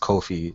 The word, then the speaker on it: Kofi: Thanks for having me on, Coffee, and yeah, let's talk some games. Yeah, it's pronounced Kofi. Yeah, my bad. Nah, it's Coffee.